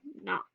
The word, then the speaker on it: knock: Then, of course, we have our silent letters like K in the word nose and K in the word knock.